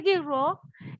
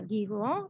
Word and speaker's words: Guiraud: Pierre Guiraud, se pronuncia Guiraud, está en francés, Guiraud.